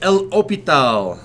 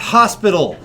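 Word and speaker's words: L'Hôpital: we're doing lesson 2-1 I pronounce this L o P tau I don't know if that accent is right but it's not Hospital a lot of textbooks because the modern spelling doesn't have an S in it I figured that I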